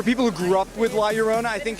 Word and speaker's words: La Llorona: I think it's awesome that, you know, for people who grew up with La Llorona, I think it's, you know, what I love hearing is they say finally somebody has made a La Llorona story.